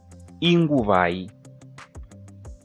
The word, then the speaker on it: Inguvai: I know if I say e, in English will be meaning this e, but in Shona, I is pronounced as e.